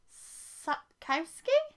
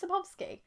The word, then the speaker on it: Sapkowski: books of by swalski this is sapkowski have i been saying that wrong this whole time i thought it was sapovsky let's pretend i know